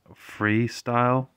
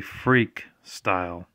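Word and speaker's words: Freekstyle: here for some reason a lot of people pronounce this freestyle I don't know why but you can clearly say see it's has a k there so it's actually freak style very fun motorcycle racing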